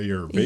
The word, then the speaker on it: Ayurvedic: Ayurvedic.